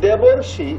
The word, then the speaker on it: দেবর্ষি: এই দেবর্ষি আর শীতার্থ দুটোর উচ্চারণ আলাদা কিনা খেয়াল করে দেখো। দেবর্ষি, দেবর্ষি মাঝখানে অর, শীতার্থ মাঝখানে আর, ক্ষুধার্ত আর, তৃষ্ণার্ত, ভয়ার্ত, ক্ষুধার্ত মাঝখানে আর। বাট ওই পাশে যখন তুমি যাবা, মহর্ষি, মহর্ষি মাঝখানে অর।